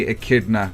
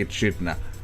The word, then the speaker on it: Echidna: And by the way, comments, I know the Americans say Echidna, but the English say Echidna.